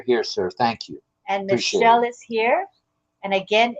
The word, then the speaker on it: Michel: And Michelle is here. And again, it's a guy, and his name is Michel. Michel. It's the French pronunciation.